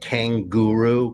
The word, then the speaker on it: Kanguru: And the third one is called Kanguru, but it's called like Kanguru because that's how it's spelled in German. Like guru guru, kanguru, haha.